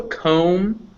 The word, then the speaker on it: comb: b b okay yeah b uh yeah is never pronounced if it follows an m so comb climb dumb you don't pronounce that